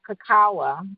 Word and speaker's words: cacao: the bone marrow so you had mentioned um cacawa that's how it's pronounced cacao chocolate I have purchased them one day but